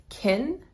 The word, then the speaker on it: can: In positive sentences, it is pronounced kin and is unstressed. Well, I can do that. I can do that. I can do that. This word is pronounced kin in a positive sentence and it's not stressed.